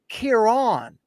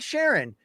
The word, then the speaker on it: Kieran: It's pronounced Kieran. Luke, it's not Sharon.